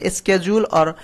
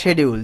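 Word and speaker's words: schedule: শিডিউল রয়েছে, এই যে এটার প্রোনাউন্সিয়েশন স্কেজুল অথবা শিডিউল যে কোনো একটা হবে।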